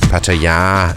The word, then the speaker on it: Pattaya: you'd know why I'm here in Pattaya or Pattaya as the locals say and how I got